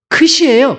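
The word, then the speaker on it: ξι: 근데 그 다음이 사실 그리스 알파벳은 뉴 다음에 크시예요. 크시 다음에 오미크론입니다. 근데 크시를 빼먹었어요. 크시 발음이 어떻게 하냐면 XI입니다. X가 발음이 어떻게 나눠져요? 크스가 되잖아요. 그래서 XI이기 때문에 발음이 크시로 되어 있습니다.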